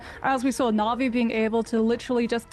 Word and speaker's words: Na'Vi: It's a complete team wipe from Na'Vi just off of Na'Vi.